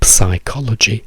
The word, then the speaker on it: psychology: of the word so we remove the P completely and say psycho psycho we don't say pych we say psychology we say psychology we